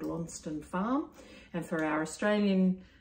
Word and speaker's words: Launceston: and beautiful airbnb we we stayed at called lonston farm and for our australian for my australian friends uh it's spelt like launceston but they all laugh at me if i say that because it's known as longstand the sess is silent like worcester um so